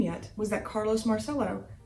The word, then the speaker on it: Marcello: yet was that carlos marcello or marcelo with the italian pronunciation a soldier under corolla